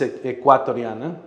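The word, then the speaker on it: Ecuatoriana: It's Equatrariana.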